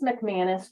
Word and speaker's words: McManus: Do you pronounce that McManus? You do, don't you? Or is it It's McManus, Your Honor.